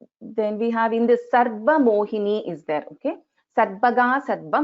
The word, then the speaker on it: Sarva Mohini: So here also we are pronouncing the Repa first and then the Va. So here the Dvitvam is happening on the letter Va and not on Ra.